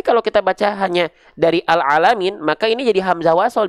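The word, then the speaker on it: العالمين: sini dari Hamzah wasalnya bacanya gimana Il alamin Ul alamin atau al alamin pasti a Kenapa karena huruf berikutnya adalah huruf lam tuh ya alalamin gitu coba aja terus nih misalnya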